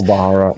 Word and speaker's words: Pilbara: Pilbara, my god.